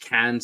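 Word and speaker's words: Cairns: the Marina Port Douglas is north of of cans or it's pronounced cans it's spelled KS with than are but everyone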